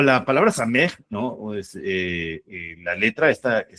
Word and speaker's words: samej: El número 60 se asocia a una letra que se le llama same, ¿no? Se escribe así. S a eh me samej, ¿no?